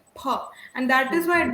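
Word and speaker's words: फ: So a lot of people pronounce fa wrong. It is actually pa. Yeah. Ha. You have to take the help of both of your lips in pronouncing these. We usually get on the English side and we say for, right? Because fruit, fail, fall. So we say fa, but in Sanskrit it is pha, and that is why it belongs to Oshtya.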